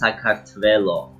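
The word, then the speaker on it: საქართველო: do you pronounce georgia in georgian yeah it's pronounced saktvelo it's a hard one and do you have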